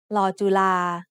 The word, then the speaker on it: ลอจุฬา: ลอจุฬา ลอจุฬา is a very uncommon letter, but one word that you'll see it in is the word nalika, which means clock.